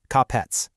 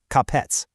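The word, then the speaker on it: капец: Now, I know this section is technically called the one syllable disaster, but honestly, this word is so final, so disastrous, it practically demands you spit it out in two quick syllables.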